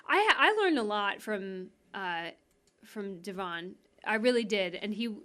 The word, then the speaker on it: Devon: I think, am I pronouncing his name correctly? Devon, yeah. Devon.